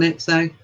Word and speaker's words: Etsy: and put it on Etsy. I never know how to say that. How do you say it? How do you say what? Etsy. Etsy. Yeah. Etsy. Yeah, you can do that. That's the one.